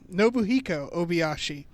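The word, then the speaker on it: Nobuhiko Obayashi: it's the final film directed by uh let's pronounce this right no by hiko no nobuhiko obiashi um otherwise known as the director of hausu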